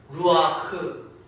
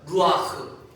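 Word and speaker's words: רוח: 영은 구약 성경에 기록된 히브리 말로는 루아흐라고 합니다. 한번 따라해 볼까요? 루아흐. 네, 루아흐. 몰라도 됩니다. 그냥 한번 들어보시라는 겁니다. 루아흐. 이게 목에서 나오는 소리로 발음해야 되는데 그 아랍 사람들이 특히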